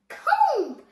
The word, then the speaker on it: comb: C O M B comb no it's comb the B is silent just like I'm silent